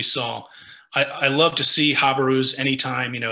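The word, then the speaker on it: jabiru: Some people say jabaru, which I think is fine. Some people say habaru. That's just kind of how I pronounce it.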